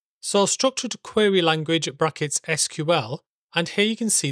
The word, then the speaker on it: SQL: standardization the iso and the original SQL standard declared that the official pronunciation for those three letters is SQL and this wiki page